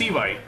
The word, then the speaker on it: Eevee: No, se pronuncia la pronunciación, es Ivai.